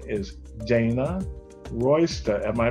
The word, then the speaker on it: Dana Royster: call spotlight a conversation with her name is dana royster am i pronouncing it right dana do i yes you